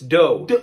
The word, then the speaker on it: dough: Okay, well then this must be do? No, come on, that's like the first one, it's dough.